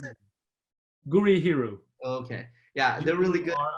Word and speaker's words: Gurihiru: How do you pronounce it? Gurihiru.